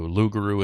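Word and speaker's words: loup-garou: their uh their language, the French Cajun Ruguru. So, Lugaroo in French, Rugaroo in French Cajun.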